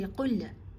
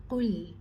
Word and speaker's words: قُلْ: Lam has a sukoon, so we do not give it a qalqala. Don't say Qul. That's incorrect. It's Qul. You pause with it, you do not bounce it.